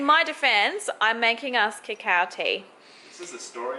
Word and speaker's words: cacao: this before this is kakeo cacao everybody always picks on how i pronounce it i don't know the correct way cacao kakeo look we used